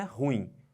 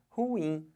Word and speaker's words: ruim: um bota força aqui mas a sílaba tônica não é horror é ruim então o certo de falar não é ruim o certo de falar é ruim Olha a força que